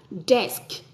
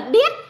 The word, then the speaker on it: desk: r xong rồi là nếu mà con phát âm là desk desk mà con phát âm chuẩn thì bố tự hào luôn mẹ cũng tự hào luôn chứ Ừ chứ nếu mà cái cái bàn mà con phát âm là đét đét thì chả ai người